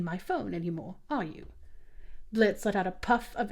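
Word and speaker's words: Blitzø: It's uh it's Blitz, I guess. The O is silent. Blitz.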